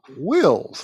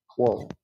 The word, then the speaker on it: Will: Bill Will's name incorrectly. Thank you for that, Bill. Will, not Wall.